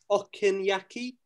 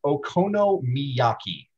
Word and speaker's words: okonomiyaki: you say that again okinaki that's not enough syllables it's okonomiyaki okay that's yes you